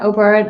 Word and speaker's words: O'Beirne: Brita Kelly says, "Hi, love O'Beirne." And sorry, it is O'Beirne. My mother's name was Byrne, so it's spelled the same way.